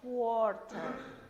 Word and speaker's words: quarter: Sí, y se dice quarter, como con O, pero se escribe con A, quarter.